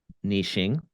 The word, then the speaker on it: niche: is deeply familiar with niching or niching Rachel how do you say it I'm Canadian so we say Niche n it's a French word so it's niche Niche and you speak